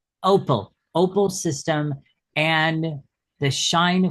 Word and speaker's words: OPAL: and creator of the Oh gosh, can you pronounce that for me? Opal. Opal.